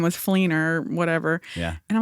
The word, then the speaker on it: Fleenor: his screen name was fleiner whatever yeah and I'm like what's a fleiner and he said that was my that's my last name and I was like that rhymes with Keener very that's great crazy